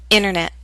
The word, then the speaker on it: internet: I'll first read the word with careful pronunciation. You will hear the pronunciation of T. Then I'll repeat the word with fast informal pronunciation. You will not hear the T.